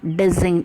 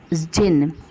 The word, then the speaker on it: jinn: And presently there came along the dizing. It is not dizing, it is pronounced as zin. What it is pronounced as? It is pronounced as jinn.